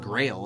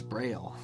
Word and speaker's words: braille: right and left or it's not grail it's braille uh right i gotta second-guess that right um i'm gonna check that honestly okay it is braille just so you know and it's spelt b-r-a-i-l-l-e if you didn't know that but pretty cool